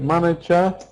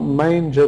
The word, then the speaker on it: manager: Manager. Manager. Not manger, that's different.